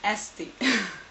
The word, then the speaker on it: Esti: My name's pronunciation is Esti.